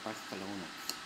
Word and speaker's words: Barcelona: here in Barcelona Spain that's how they say it kind of they they all seem to lifp a little bit but Spanish it's kind of cool kind of a different way they Barcelona and it's cute you know so I